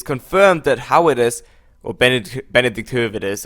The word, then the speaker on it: Höwedes: that Höwedes, or Benedikt Höwedes, I'm gonna pronounce him in a German way, of course, does have a buyout clause of, let me just double check, 17.5 million euros.